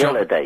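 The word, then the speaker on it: Hallyday: I pronounce Johnny it Halliday.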